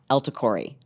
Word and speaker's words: El-Takrori: sitting down with Omar elori which rhymes with tell my story hey and um we're